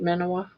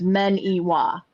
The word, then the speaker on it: Minowa: it's supposed to sound, so it's men Iwa. Yeah. Like the word men, the letter E, and then wah, like a baby's crying, wah, or like they think wah wah wah wah.